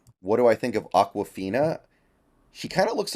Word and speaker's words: Aquafina: water um basically um it's like Aqua it's like awkward the first half is spelled like awkward so it's Aquafina uh didn't even know